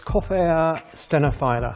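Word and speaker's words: Coffea stenophylla: speak to the man himself how do you pronounce spin a fine little filler or stenophila it's coffeea stenophila there you go stenophila glad we got that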